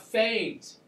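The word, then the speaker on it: foehn: uh we also have faines yes it's pronounced Fain I know it's an e but it's pronounced with a long a these are warm dry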